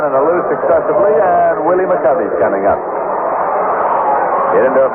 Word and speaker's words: McCovey: You know, during his entire minor league career, this fellow's name was pronounced, and he pronounced it McCovey. And he pronounced it McCovey when he came to the major leagues, but nobody else did, and he finally just gave up and said, all right, call it McCovey. So everybody does.